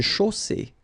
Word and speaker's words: chaussée: Une chaussée. Okay, here, final not pronounced. And then you get the double S between two vowels, so it's really strong.